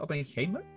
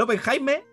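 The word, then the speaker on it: Oppenheimer: Tim Barbie nadie Open Cómo se pronuncia openheimer el open Jaime ambos ambos son buenas Christopher nolan un grande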